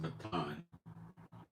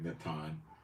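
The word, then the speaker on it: נתן: It's pronounced Natan. Nun Tor, Nun Sophet. Anyway, Natan.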